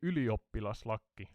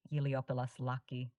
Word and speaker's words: ylioppilaslakki: Of course, please go ahead and teach me how to pronounce Iliopoulos Laki correctly. Can you say the letter Y? E. More Y, not E. Try Y.